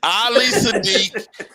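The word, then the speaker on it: Ali Siddiq: No, you didn't put no D on my name. Man, first of all, Ali. You didn't hear the symphony behind you. Bin, bin, bin, bin, bin. Ali Sadiq. It's Ali Sadiq. SIDDIQ. I will spell it.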